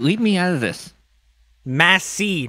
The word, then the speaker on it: Matzy: Matzy, not Matzy. No, legit, if you have captions on and you say my name, it comes in as Matzy or Matzy.